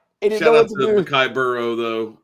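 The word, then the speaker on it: Boireau: And it's Burrow spelled like I wish they would have spelled Joe Burrow's name on when they did the the cinjunizing of his name. Yeah, this guy's name is spelled B O I R E A U.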